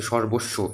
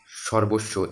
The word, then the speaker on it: সর্বস্ব: আচ্ছা, লাস্টলি এই জিনিসটা তোমার হচ্ছে স এর প্রথম উচ্চারণ স্মরণ, হ্যাঁ, স্বর্ণ, আচ্ছা, তারপরে হচ্ছে সর্বস্ব, এই এখানে দেখো দ্বিত্ব উচ্চারণ হচ্ছে কিন্তু এটা, সর্বস্ব, সুস্মিতা, দ্বিত্ব উচ্চারণ হচ্ছে কিন্তু ছয়ের, হ্যাঁ?